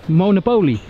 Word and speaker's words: Monopole: Hoe spreek je het restaurant uit? Monopol.